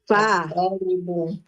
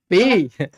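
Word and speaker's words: في: Kemudian nomor 2 Fa. fi. Bukan fa ya Ibu Yani ya. Bukan fa Ibu, fi ya.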